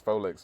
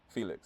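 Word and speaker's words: Phoelix: And then you got like the amazing I think that's Folix on I can't say Folix, his name's spelled like that. Felix. Yeah, it's Felix. It's like Phoenix.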